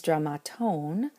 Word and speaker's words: δραμάτων: When it becomes dramatone, of the dramas though, the last syllable is now long, so the poor accent can't hold out any longer on that first alpha, and it gets pulled as an acute to the second to last syllable.